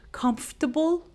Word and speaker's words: comfortable: We just say comfortable. And when we say it, we do not pronounce the R sound as you may not hear it when I say comfortable.